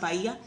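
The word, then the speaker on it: Bahia: That's how we would pronounce it in English but it's pronounced baya.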